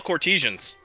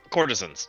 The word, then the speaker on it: courtesans: they're basically they're upscale courtesians that's kind of what they are yep courtesans sorry I I pronounce it that way because that's the way I first read it when I saw it